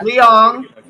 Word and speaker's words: Leong: It's written by their partner, Chris Ross Leong. How do you pronounce it? Yes, that's it. Yeah. Leong.